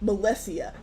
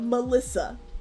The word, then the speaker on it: Melessia: 2, my middle name is pronounced Melessia. That's Melessia, not Melissa.